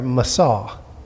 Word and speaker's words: Masaw: Yes, the quotation name there, Masaw, is how you pronounce it.